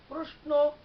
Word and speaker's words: প্রশ্ন: আবার একটি শব্দ রয়েছে প্রশ্ন, প্রশ্ন তালব্য স দিয়ে বানান, কিন্তু কেউ কেউ প্রশ্নও বলে থাকে, সেটাও সঠিক দন্ত স্বর মতো।